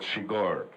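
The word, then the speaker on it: Chigurh: anything I just asking what was the right pronunciation of the my characters thing which is quite weird he says he said sheor okay that's fine he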